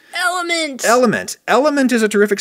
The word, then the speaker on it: LMNT: episode, Element, which is spelled L-M-N-T. But it is pronounced Element. Element.